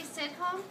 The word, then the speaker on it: Sidhom: Sidhom? Can you? You got it. Nancy Sidhom?